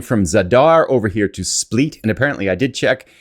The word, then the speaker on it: Split: We're going from Zadar over here to Split. And apparently I did check. It is pronounced Split, not Split.